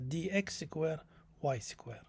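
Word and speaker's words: dx²−y²: It's not minus, but we pronounce it as dx square y square.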